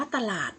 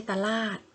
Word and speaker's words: ตลาด: หนา ๆ น่า หรือ คำ ว่า ตลาด จะ อ่าน ว่า ตลาด นะ คะ ไม่ ใช่ ตา ลาด เป็น ต้น นะ คะ